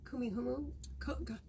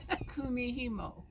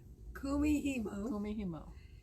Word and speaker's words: Kumihimo: And you did Kumihumu. I never can do that word. Kumihimo. Kumihimo.